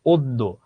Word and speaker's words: অদ্য: অদ্য, দটা দ্বিত্ব হলো।